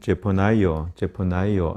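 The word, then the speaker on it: Zephaniah: 영어로 볼 때는 제퍼나이어 이렇게 발음을 하고 우리말로는 선지자 이름 그대로 스바냐 이렇게 얘기합니다.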